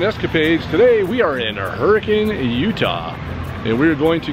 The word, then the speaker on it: Hurricane: to head into right over here and it's pronounced hurricane how did hurricane get its name well legend